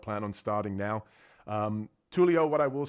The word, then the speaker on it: Tulio: Yeah, Tulio.